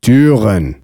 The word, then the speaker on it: Türen: To pronounce U umlaut, all you have to do is round your lips for U while saying E. Über, Türen.